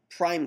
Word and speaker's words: prime: numeric characters underscores or prime characters single quotes we pronounce them Prime um or any symbolic